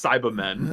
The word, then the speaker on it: Cybermen: People usually pronounce it Cyba, so Cyberman. Oh. Because British.